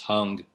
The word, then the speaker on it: Hang: gonna mispronounce it but the word it's h-a-n-g but it's pronounced hung and that means hand